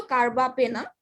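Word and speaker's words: carbapenem: কিন্তু এলসা তোমার কিন্তু কার্বাপেনাম বানানটাই একটু ভুলেছে, উচ্চারণ যদিও কার্বাপেনাম, তোমার স্পেলিংটা হয় কি PENEM, ঠিক আছে, এটা সবাই মাথায় একটু খেয়াল রাখবে যেটা স্পেলিংটা কি।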